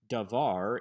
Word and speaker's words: davar: Davar is not a segalet, since the emphasis is on the second syllable, davar, but the patterns of